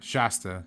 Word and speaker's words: Shasta: It's his pot smoking detective, and Shanta is her name. Shanta is the chick who he's been trying to. This girl? Yeah. You mean Shasta? Shasta.